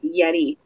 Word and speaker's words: Yeti: a quick update on Yeti or maybe you know we're not pronouncing it right Yeti is the way to prime pronounce it yet eat but this company you